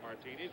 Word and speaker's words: Martinez: and the pitch to Buck Martinez. And we have been told now, I was introduced to Buck originally as Martinez. Reggie Jackson's middle name spelled the same way, pronounced Martinez.